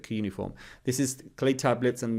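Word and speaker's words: cuneiform: They developed coform however they pronounce it. I pronounce it kuniform.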